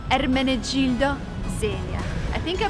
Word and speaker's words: Ermenegildo Zegna: Ermenegildo Zegna. Because I've learned Italian for almost a year, and guess what I've learned? All of the brand names. Ermenegildo Zegna.